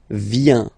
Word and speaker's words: vient: Final T not pronounced. Il, elle vient.